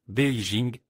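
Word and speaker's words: 北京: Beijing que nous ne connaissons pas encore très bien et Beijing en chinois et se prononce Beijing est la traduction du nom de cette ville n'est pas trop compliqué capitale du nord.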